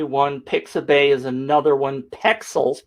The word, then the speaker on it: Pexels: pixabay is another one pexels p e x e l s i always spell it wrong it's not pixels it's pixels uh and and i'm saying